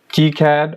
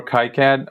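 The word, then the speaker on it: KiCad: are Altium designer ego keycad or kai-cad or some some of them pronounce it these are the commonly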